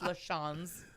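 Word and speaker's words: LaChanze: LaChance, and in front of it is pronounced LaChance. Okay. No, not LaChance like I've been saying.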